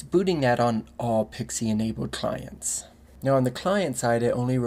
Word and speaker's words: PXE: but first some basics this is often pronounced as pixie it's a specification that